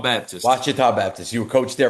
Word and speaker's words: Ouachita: So how do you pronounce the school again? I tried several times. Yeah. Ouachita Baptist. Ouachita Baptist.